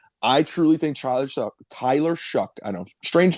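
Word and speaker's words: Shough: I truly think Tyler Tyler Shuck, I know, strange name. S H O U G H. It's spelled like all Shucks.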